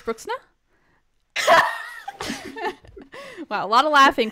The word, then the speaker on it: Bruxner: Name wrong, Abby. Oh. Bruxna. Is that better? Yeah, it's brilliant. Perfect. How do you say it? You said it's just funny you said it in like an Australian accent. Was, yeah, because yeah. I said it wrong. So it's Bruxner.